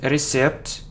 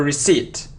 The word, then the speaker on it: receipt: So it isn't recept or receipt, no. So it's a receipt, receipt, okay, very good.